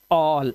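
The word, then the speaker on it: all: बहुत सारे स्टूडेंट्स मैंने देखा इसको आल पढ़ते हैं, नॉट आल, इट इज ऑल।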